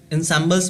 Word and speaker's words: ensemble: नौबत का मतलब 9, तो यहाँ पे क्या है कि सहनाई जो है किसका पार्ट था, तो जो traditional ensembles means it is pronunciate as ensemble।